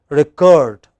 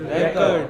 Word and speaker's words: record: It is important, extremely important in English that you maintain this difference of stress between noun and verb. When that word is used as noun, it has one kind of stress, but when it is used as verb, it is another kind of stress.